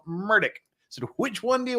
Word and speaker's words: Murdoch: words uh which pronunciation am I supposed to use the one that everybody uses murder the one that his close friends and half of his legal team use Murdoch or the way he pronounces it himself murdick so which one